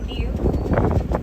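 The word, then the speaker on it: gnu: nickname that is the New. It's spelled G-N-U, G-N-U. And they get this nickname because of the sound they make. It sounds like you're saying mew. Like how a cow says moo moo.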